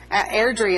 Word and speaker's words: Airdrie: Airdrie is how it's pronounced, but the Muhlenberg Countyans call it Airdrie.